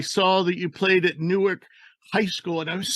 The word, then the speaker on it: Newark: When I was doing research into you, I saw that you played at Newark High School, and I was so excited. And then I realized that there's a Newark in Ohio.